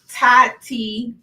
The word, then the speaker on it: Tatyon: So then I start paying attention more to what she's doing, and her name is Tatyon. I always want to put another syllable on the end, but I got it right in my mind.